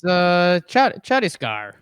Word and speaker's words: Chhattisgarh: Can you pronounce the name of that central state right there? It's Chhattisgarh.